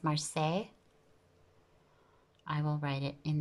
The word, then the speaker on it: Marseille: In Italy, we call it Marsilia. In France, I think the pronunciation is Marseille.